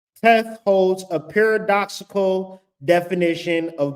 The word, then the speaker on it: Teth: Hebrew word to which means good right but pronounced teth teth holds a paradoxical def of both good and